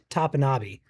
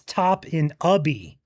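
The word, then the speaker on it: Topinabee: arms because they were saying that Joel was pronouncing it wrong. He was saying Topinabe, and that was wrong. The Michigan pronunciation guide says it's Topinabe. However, the locals, Wikipedia, and also the Google overview says it's Top-in-Ubby.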